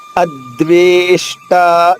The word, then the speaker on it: అద్వేష్ట: అద్వేష్ట, చూడండి, ఆ హ్రస్వాక్షరము, ద్వేష్ట రెండు కూడా దీర్ఘాక్షరాలు కాబట్టి అద్వేష్ట.